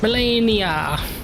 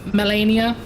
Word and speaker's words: Malenia: Well, how am I pronouncing the letters today? Malenia.